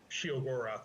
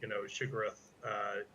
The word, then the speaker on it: Sheogorath: Well, I've heard the name pronounced different ways, but originally because Shegorath. Well, because Right. Full name, and when we were kind of creating character names, she, Dor, Gorath. So Sheogorath was sort of how I pronounce it, but I've heard it's obviously has a kind of a Lovecraftian, Shigarath, aspect to it.